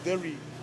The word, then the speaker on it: deri: It's pronounced differently between the different languages in the Torres Straits, but for my language it's the deri. The deri signifies the headdress of a warrior that's ready to go to battle.